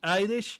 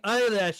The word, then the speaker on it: Eilish: You pronounce it Billie Eilish? I've been pronouncing it Billie Eyelash this whole time.